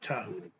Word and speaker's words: Djehuti: The D is just like a T because we switched it to Japanese, Chinese, another thing about Dao and Tai. So it's pronounced Tahuti.